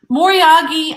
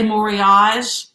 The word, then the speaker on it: moriage: something else oh good moriagi i think is said with the hard g because it's japanese a lot of people say moriage that would be kind of a french pronunciation of it i think i think you can say it either way it's correct whatever way you want to say it so this set does